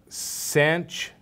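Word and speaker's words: sinh: A lot of people, especially physics and engineering people, pronounce these as sanch, kosh, and tanch.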